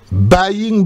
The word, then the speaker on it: buying black: porte-monnaie ce fameux porte-monnaie buying black ça s'écrit B u y i n g et plus loin black B l A C k buying black on peut tradu ça par